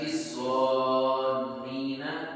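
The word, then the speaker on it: الظانين: الْمُنَافِقِينَ وَالْمُنَافِقَاتِ وَالْمُشْرِكِينَ وَالْمُشْرِكَاتِ الظَّانِّينَ، یہ ذوا کو نون کے ساتھ ملائیں گے، وَالْمُشْرِكَاتِ الظَّانِّينَ باللہ ظن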